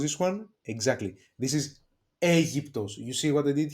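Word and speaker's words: Αίγυπτος: This is Aegyptos. You see what I did here? Alpha and iota together, it gives us the sound E. Okay, Aegyptos, Egypt.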